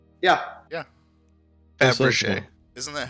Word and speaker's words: Fabergé: Also, apparently Fabergé isn't spelt the way it sounds. No, it's not. Not at all. It's the French. Faberge. Yeah. That's Fabergé.